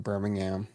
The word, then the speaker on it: Birmingham: Birmingham collections revealed and the H isn't pronounced in Birmingham it's just kind of silent just to let you